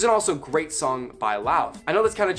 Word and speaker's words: Lauv: His name is Lauv, L-A-U-V, and yes, that's how you pronounce it. I watched an interview and he's like, hey, my name is Lauv. And I was like, okay, it's not love, it's Lauv.